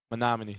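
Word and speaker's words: Menomonee: Um who's a bigger You have to help me on the pronunciation. Is it Is it Monomony? Monomin.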